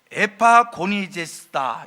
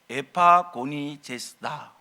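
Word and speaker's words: ἐπαγωνίζεσθαι: 성경에 헬라말로 써 있으니까요, 헬라말로 에파고니제스다 이렇게 발음을 합니다. 힘써 싸우다, 에파고니제스다, 에파고니제스다, 힘써 싸우다.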